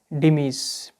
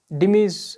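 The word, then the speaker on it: dhimmis: से पुकारा जाता है उन्हें कहा जाता है डिमस डिमस जो स्पेलिंग है डी एच I double M आई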